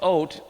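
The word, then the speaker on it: אות: It's the aleph, the yud, or the aleph, vav, and the tav is how it's spelled. It's ot.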